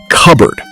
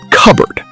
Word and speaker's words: cupboard: Notice that native speakers don't pronounce every letter. Listen. Cupboard. You say it. Cupboard.